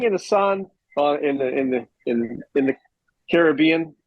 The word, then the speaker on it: Caribbean: sitting in the sun in the Caribbean. It's not Caribbean, right? It's Caribbean. How do you say Sure. it? Well, what's Pirates, the movie called? Pirates of the Caribbean. Right, it's the Caribbean.